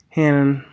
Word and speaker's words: Hannon: You say Carrie Hannon. That's how you pronounce her name.